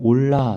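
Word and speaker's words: עולה: 번제로 표현됩니다 번제를 이제 히브리어로 올라 히데 올라 이거는 이제 올라가다 란 뜻이 있어요 발음이 비슷하죠 올라가다 올라가다 건 제가 밑에서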